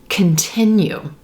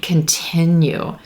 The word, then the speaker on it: continue: very quick it's reduced it's going to sound like words like continue continue do you hear the difference there here are stresses on the second syllable and the silver pen pin sound continue continue and that first syllable is super quick can can continue you'll also hear that